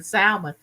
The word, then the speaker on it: salmon: salmon patty she said Mama is salmon the L is silent you are you know that you're so up on all the language why are you saying salmon but I was brought